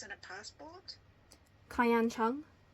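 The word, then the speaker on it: Kayan Cheung: Kayan Chung. Kayan Chung. So KAYANCHEUNG. Okay. I'm typing your pronunciation.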